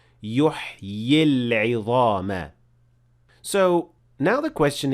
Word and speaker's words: يُحْيِي: قَالَ مَن يُحْيِي قَالَ مَن يُحْيِي الْعِظَامَ وَهِيَ رَمِيمٌ. So if I stopped at the word يُحْيِي, I pronounced 2 ya and the second ya had natural mad.